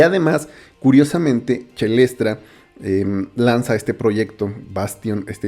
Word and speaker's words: Caelestra: Creo que se pronuncia Chelestra y creo que es así, sobre todo porque utiliza tracks con esta evocación como Caelo, que en realidad es cello en latín, y creo que, bueno, es Chelestra.